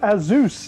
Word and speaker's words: Asus: 3 Pro so there it is it is pronounced Aus and now we're going to go take a